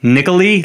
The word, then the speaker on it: Nikalie: It's N I K A L I E like Nicoli, like Natalie with a K.